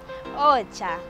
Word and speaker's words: ocha: Ocha. Ocha is spelled as O-C-H-A.